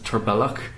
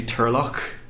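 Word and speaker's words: Turlough: named like aged and I mispronounce this name once as tur bellick but it's actually Turlock which is also the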